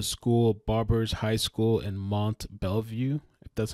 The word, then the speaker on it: Mont Belvieu: goes to the school barbers High School in Mont Belvieu that's how you pronounce it I think it's a little ironic